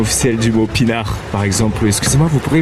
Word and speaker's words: pinard: Oui, c'est la prononciation officielle du mot pinard.